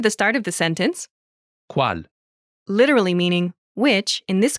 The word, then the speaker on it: Qual: Pronunciation note, Qual? is the shortened form of Quale? when Quale? is followed by a word which starts with its same final vowel sound. E. It's shortened to. Qual?